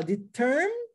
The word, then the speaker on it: determined: E aí você vai do N direto para o D e fala determined, determined, determined, determined. Só isso. Esquece que o E existe. Só coloca ele na hora da escrita. Na hora da pronúncia, não. Determined.